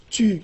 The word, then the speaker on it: tu: For example, in Quebec French, there's a particle pronounced tu, like the pronoun, but it's not at